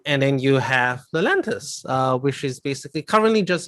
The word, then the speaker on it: Lelantus: What is Lelantis? Or Lelantis? Yeah, Lelantis. Yeah. Spell it. So Lelantus.